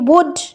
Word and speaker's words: would: তারপরে কি WOULD, এল এর কোনো প্রোনাউন্সিয়েশন নেই, উড, WOUD তে চলে যাচ্ছি, এল এর কোনো প্রোনাউন্সিয়েশন নেই।